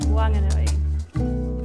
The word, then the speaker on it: Whanganui: In Whanganui, the H is aspirated, so it's not a wha, it's a wa. It's not Whanganui, it's Wanganui. Are you ready to learn? Whanganui.